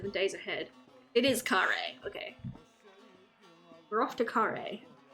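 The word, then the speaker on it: Kharé: thing on it does it go is it Curry is that how that e is pronounced there's nothing but vicious in the Wasteland you'll have no one to trust in the days ahead it is Kare okay we're off to Curry at least we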